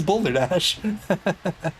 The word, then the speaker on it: Boulder Dash: Every time I say Boulder Dash, I'm like, oh, I'm pronouncing Balderdash wrong. But no, his name is Boulder Dash.